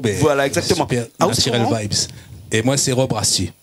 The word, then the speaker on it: Nattirel Vybs: Le groupe s'appelle Naturel Vibes, c'est ça, hein? Yes, ouais, c'est ça même. On a retenu la prononciation. Mais voilà, exactement. Super, Naturel Vibes.